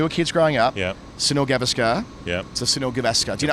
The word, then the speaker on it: Gavaskar: You don't lean on any you don't lean on any of the syllables. They're all equal, so it's Gavaskar. There you go. All three have the same weight.